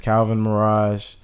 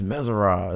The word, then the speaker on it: Calvinmerazh: So no, it's just Calvinmerazh. If you read it, like some people be like, it's Merazh.